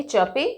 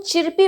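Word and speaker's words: chirpy: फिर बबली अब देखिए आप इसको चिरपी मत पढ़िए चिरपी चिरपी नहीं होता बहुत बार मैंने देखा है ये प्रोनाउंस करते हुए चिरपी सीधा प्रोनाउंस करता है जबकि यहां पे आर साइलेंट है और ई की साउंड अ में ठीक है चपी चपी राइट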